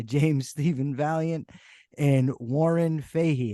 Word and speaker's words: Fahey: Stephen Valiant and Warren Fahey am I pronouncing it right hey just simple Faith hey Warren Faye right what a fascinating topic